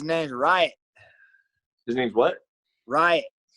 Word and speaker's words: Riot: Riot. Right? Riot. Like a riot. R-I-O-T. Riot. Okay.